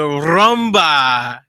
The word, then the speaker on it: Rumba: I gotta roll the R's. You gotta say it right. Oh my gosh, man. All right, so it's going to be... Let me say it with you. No, the Rumba Tropical Lounge.